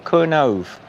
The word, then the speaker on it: Kernow: Yeah, I think it's is it Kernow or Kernove? Do they pronounce the W with a V or with an O? It's Kernow.